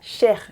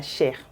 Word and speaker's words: chair: Same spelling, completely different pronunciation, completely different meaning. In the French language, la chair means the flesh.